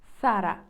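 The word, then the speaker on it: Zara: ми кажемо зараз іспанською називається Сара Сара з між зубною с Сара в іспанській немає звука з пам’ятаєте Так Сара ще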